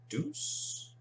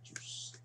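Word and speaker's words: Djoos: Is the D or the J silent? Or Juice? Artemi Panarin, Columbus, Juice. So the D is silent to Juice.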